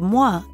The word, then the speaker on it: moi: means excuse me and the sound moi is similar to the beginning sound in toilette let's hear a couple